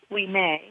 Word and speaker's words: Ouimet: his name is Robert Ouimet. His last name is spelled Ouimet, and Robert is like Robert, only in French, Robert Ouimet.